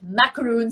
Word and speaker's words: macaron: started the whole macro that's how the French pronounce it macaron store in in India